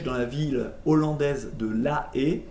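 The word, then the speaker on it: La Haye: la ville hollandaise de la e ça s'écrit la a mais ça se dit la e alors en 1800 en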